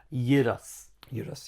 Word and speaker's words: Gyros: Euros. You don't pronounce the G, do you?